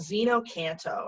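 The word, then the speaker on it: xeno-canto: audio files of birds called Zeno canto and that's spelled with an ex ex ano - canto CA NT o Zeno canto comm and it's totally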